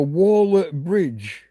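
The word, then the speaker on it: Waller-Bridge: So, it is spelled just like waller. It's not waller anything. It's waller. The person who builds a wall is a waller. So a waller bridge.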